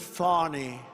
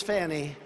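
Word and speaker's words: Fani: Fanny it's F ni she pronounces it fonny f i don't see it to me it's Fanny the very first bill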